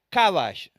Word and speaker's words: kabash: Soyugar es la palabra hebrea kabash, K-A, acento en la A, para los que me quieren seguir escribiéndolo, B larga A-S-H.